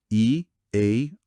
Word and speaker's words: early: A pronúncia aqui tem o som ear, que é um desafio comum pra gente porque não tem um equivalente tão direto no português, né? E depois o som lie, no final, que é bem comum em advérbios.